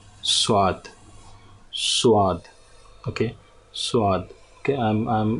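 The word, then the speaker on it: صاد: In Urdu language it is pronounced as swad.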